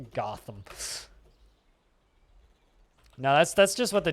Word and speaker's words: Gotham: I always thought it was pronounced got him. I like this pronunciation. We should roll with it now as the official and only proper pronunciation of the word Gotham.